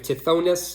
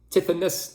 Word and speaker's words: Tithonus: There's the famous mythological story of Tithonus, or maybe Tithonus, depending on how you say it.